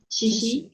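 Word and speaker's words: 七夕: Chishi.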